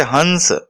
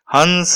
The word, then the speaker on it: हंस: लगाकर बोला जाता है जैसे हंस देखिए यह के ऊपर जोर लगा रहे हैं हंस कि आप सुन रहे हैं इसमें ह क्यू पर काफी जोर देकर उच्चारण किया जा रहा है